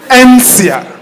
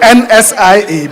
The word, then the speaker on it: NCIA: NCIA. I used to say NSIA, but it's NCIA Insurance.